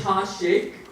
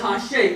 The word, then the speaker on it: Hasnain Shaikh: I am, what I do, my name is Hasnain Shaikh. He introduced me as not Hasnain Shaikh. I don't know where that came from. But it's Hasnain Shaikh. And it's not even that, it's Hasnain Shaikh.